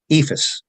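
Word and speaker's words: EIFS: and the surrounding states ephus or Eeps as Some people prefer to pronounce it is an um also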